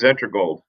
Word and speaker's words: Xetra-Gold: gold what is it it's pronounced zetra gold zetra gold I mean zetra gold